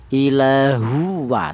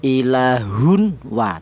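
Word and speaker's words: إِلَٰهٌ وَاحِدٌ: Tidak boleh tanwin ini dibaca izhar. Apa artinya izhar? Idhar itu artinya jelas. Yaitu tanwin ini cara bacanya tidak boleh dibaca jelas. Seperti contoh ilahun wa tidak boleh. Yang benar tanwin ini langsung menyatu atau langsung idgham ke huruf wawu. Itu namanya idgham ilahua seperti itu.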